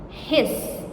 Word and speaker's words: his: His voiced. The S in his pronounced Z. Z.